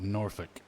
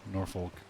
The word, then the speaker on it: Norfolk: out there call it noric like you like the L isn't even pronounced but anytime I see it but you know my I naturally pronounce the L Norfolk Norfolk Connecticut but I've